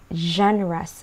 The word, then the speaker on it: genre: of viewing is called genres of viewing we pronounce it as genre you say genre okay now what are